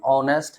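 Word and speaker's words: honest: इसका pronunciation ऑनेस्ट है। जो ववेल साउंड अ से शुरू हो रहा है तो ववेल साउंड के पहले किसका प्रयोग होता है?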